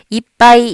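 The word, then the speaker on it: いっぱい: 들어보셨죠 4 이빠이 입니다 자 팔은 자연스럽게 빠 라고 발음 하시면 되고요 이빠이 하면서 자연스럽게 입술이 부터 버려요 받침 하는 순간부터 입술이 붙습니다 4 이빠이 라고 3박자를 바로 하지만 되요 지금은 글자가 4개 네 박자로 발음 하셔야 되요 이빠이 epi 약간 고개가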